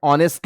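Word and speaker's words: honest: भले ही हम इसे एच लेटर के साथ शुरू कर रहे हैं, लेकिन जब इसका प्रोनाउंसिएशन आता है ना बच्चा, तो ये अ साउंड करता है, और अ तुम्हारा वाउल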